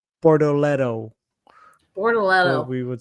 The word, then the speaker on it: Bortoleto: Bortoleto. Borchileto. Who? Well, how do I say it? Barrichello. Bortoleto. Barrichello. Is it It's not Barrichello though. It's Bortoleto.